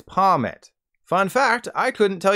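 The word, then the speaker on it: Pawmot: everybody the entire time I called this guy palmat then I learned its name is based on a marmot so the official pronunciation is pomit fun fact I couldn't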